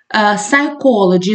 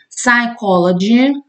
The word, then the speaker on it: psychology: Psychology – зверніть увагу, ми не вимовляємо. Psychology – psychologist.